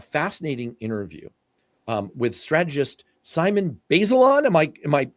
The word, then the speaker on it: Bazelon: This will be number 3 because you just did a fascinating interview with strategist Simon Bazelon. Am I pronouncing Simon's Yeah, last name Baseline. correctly? Yeah. Yeah. Bazelon.